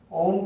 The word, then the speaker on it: ओम: ओम का उच्चारण करना है जिसमें कि अ, उ, म तीनों स्पष्ट रूप से मिला हुआ एक वाइब्रेशन आना चाहिए।